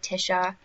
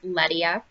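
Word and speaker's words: LeMieux: people call it Leia some people call it Leticia and so so last night I just went ahead and you know tried to find what it was actually called and it is pronounced Leia um so it looks blackish I don't know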